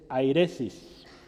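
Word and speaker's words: αἵρεσις: Se voy a escribir cómo se pronuncia en español. Es airesis, con H.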